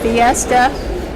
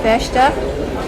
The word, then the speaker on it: festa: And I cannot now even remember why they had these, we would call them a fiesta. In Portuguese, it's pronounced festa.